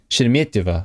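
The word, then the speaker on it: Шереметьево: But you know, I've been to Sheremetyevo. Sheremetyevo, right? That's basically it. Am I pronouncing it right? Let's see. Do I have pronunciation? Sheremetyevo, yeah.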